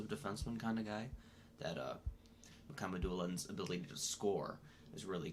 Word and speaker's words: Mukhamadulin: Mukhamadulin. That's the correct pronunciation.